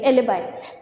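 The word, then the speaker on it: alibi: इन the following question a particular word is provided, like एलिबाई, sorry इसकी pronunciation क्या रहेगी? एलिबाई, है ना, एलिबाई इसको प्रोनाउंस करते हैं।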